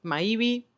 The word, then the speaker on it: Maibi: Mi nombre es Maibi, como está en el canal y así como se escribe.